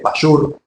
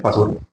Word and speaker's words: Pasur: Sobre en realidad, son datos nada más sobre Pasur, algunos se escriben Pashur o Pashur, pero es Pasur.